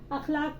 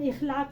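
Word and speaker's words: اخلاق: अखलाक को हम इखलाक नहीं कहेंगे, वो गलत प्रोनाउंसिएशन होगा। हम क्या बोलेंगे? अखलाक, इखलाक नहीं, अखलाक।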